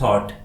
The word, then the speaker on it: thought: इस स्पेलिंग में यू के बाद GH आता है इसलिए हम इस स्पेलिंग में GH का कोई प्रोनाउंसिएशन नहीं करते हैं क्योंकि यह यहाँ पर साइलेंट है और इसे हम थॉट पढ़ते हैं।